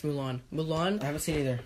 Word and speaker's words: Mulan: It's pronounced Mulan.